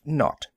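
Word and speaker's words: naught: were supposed to call the zero in the telephone number he pronounced not the number was to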